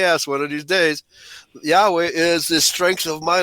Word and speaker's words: Yahweh: And it translates to Yahweh. That's the way it's pronounced by in Hebrew actually. Okay. And Yahweh is my light and my salvation.